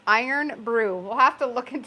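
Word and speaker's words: Irn-Bru: Only place in the world that's pronounced Iron Brew.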